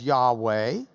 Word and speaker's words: Yahweh: We often hear it pronounced as Yahweh, but it's translated in our Bibles as Lord using all capital letters.